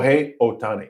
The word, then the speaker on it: Shohei Ohtani: And I, as I was telling JR last week, I couldn't believe, was it how do you pronounce his name? Shohei Ohtani.